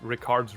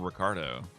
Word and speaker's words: Ricard: I always want to call him Ricardo. No, it's just Ricard.